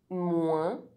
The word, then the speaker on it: moins: OIN is only pronounced one if it's at the end of a word followed by a silent consonant or by a pronounced consonant other than another N or M. Otherwise, OIN is not a nasal vowel.